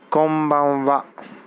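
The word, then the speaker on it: こんばんは: You say konbanwa. Konbanwa, which looks like this. Ko ba wa. Konbanwa, which translates to good evening. Once again, notice the ha sitting in the end is pronounced as wa, not ha.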